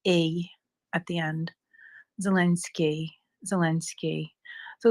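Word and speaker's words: Zelensky: that sort of a at the end zelinsky zelenski so it's not zelinsky that would be the I with a DOT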